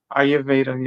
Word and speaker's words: Ayurveda: Agyotra is a healing fire from the ancient science of and make sure I'm pronouncing this right. Ayurveda. Ayurveda.